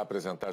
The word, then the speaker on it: apresentar: Antes de começar a apresentar as notícias de hoje, a gente vai fazer uma pausa. Apresentar, então, esse R final, ele é bem sutil, bem suave, quase sumindo, mas não some totalmente.